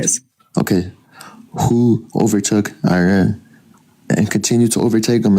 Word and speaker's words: Iran: It's not Iran. You're not running. It's Iran.